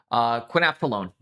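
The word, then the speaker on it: quinophthalone: What's the word and how is it pronounced? Quinaphthalone.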